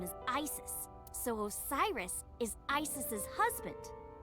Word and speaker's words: Isis: Horace's mom is named Isis, but in ancient Egyptian, it's pronounced closer to Ise or Asen.